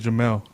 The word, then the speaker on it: Jamel: Flores Gabriel floors what is the correct way you say is it Jamal German or Jamal I believe is Jamel Jamel ok I just want